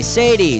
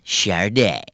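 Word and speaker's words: Sade: is spelled s-a-d-e how the heck do you pronounce that sure day Sadie sad or soda for you I'd suggest a complete makeover player two player three go for it it's pronounced Char day nice work you really made the grade I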